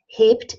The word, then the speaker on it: hebt: So the B becomes a P in pronunciation. Hebt, hebt, nicht hebt, hebt, hebt. But ich hebe, when I say I lift, ich hebe, it's a B sound.